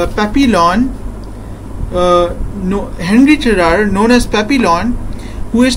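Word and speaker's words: Henri Charrière: Hi guys, today we are going to discuss a novel called Papillon by Henri Charriere. That's how he pronounces it actually.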